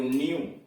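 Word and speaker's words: new: Rule number 16, जब किसी शब्द में ई से डब्ल्यू जुड़ा हो, करा कोई ऐसा शब्द आया है जिसमें ई से डब्ल्यू जुड़ा हो, तो ई डब्ल्यू का उच्चारण यू होता है। करा जब किसी शब्द में ई से डब्ल्यू जुड़ा हो तो ई डब्ल्यू का उच्चारण यू होता है। जैसे एन ई डब्ल्यू न्यू, डी ई डब्ल्यू ड्यू, ओस।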